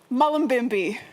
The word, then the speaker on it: Mullumbimby: Now tell everybody where you're from, where the town, because I can't pronounce it. Mullumbimby.